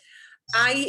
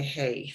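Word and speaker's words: hay: Just remember, don't pronounce the H. Never say, oh, for God's sake, don't say hey. I know it looks like the English hey, doesn't it? But yeah, you do hey, somebody like have no idea what you mean, right? I, like, it's like I, you know, people exclaim I. That's the same pronunciation as the verb I, except I audífonos aquí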